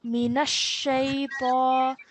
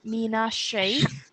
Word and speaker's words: من الشيطان: So we have to say Minash Shaytan. So the Noon and the Sheen have to be joined with force, okay?